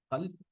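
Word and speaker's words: قلب: For example, the word qalb, which means heart, it's pronounced differently in Saudi Arabia and Cairo. For example, in Saudi Arabia, we call it qalb, and in Cairo, it's al, slight pronunciation of the sound al.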